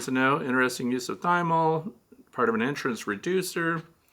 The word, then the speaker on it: thymol: It's spelled thymol, T-H-Y-M-O-L, but we're supposed to say thymol because it's thyme oil.